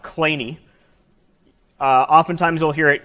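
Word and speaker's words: Kleene: from the son of the namesake this is pronounced clay knee oftentimes we'll hear it clean or cleany I won't correct you because I haven't heard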